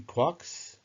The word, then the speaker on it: quark: the illusion to three quarks seemed perfect I needed an excuse for retaining the pronunciation Quark despite the occurrence of mark bark Mark and so forth in